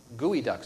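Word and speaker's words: geoduck: for example here in the sound we have gooey Ducks am I pronouncing that correctly the fact that anybody eat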